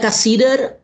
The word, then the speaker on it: Cassirer: Estoy hablando de Ernst Cassirer, o como lo pronuncian los alemanes, Ernst Cassirer. En realidad Cassirer nació en una ciudad